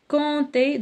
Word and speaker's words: compte: compter, donc compte ما كنقراوش بي, compte ما كنقراوش بي.